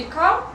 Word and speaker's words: calm: И calm Эл не читается, да, пометьте себе.